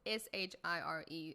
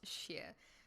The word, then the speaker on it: shire: add share so it's s-h-i-r-e a lot of people say shire it's actually pronounced sheer so i'm gonna start